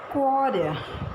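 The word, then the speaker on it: coroner: Quarrier. See, it is pronounced as quarrier. Let me tell you. K-A-W-R-U-H-N-U-H.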